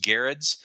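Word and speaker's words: Gerads: Eisner award-winning pair of Tom King and Mitch Garretts um which I actually you know I think I've mispronounced his word for a long time now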